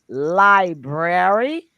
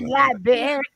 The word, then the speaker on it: library: please tell that woman how to say the word library and not Library not not liary library that just shows you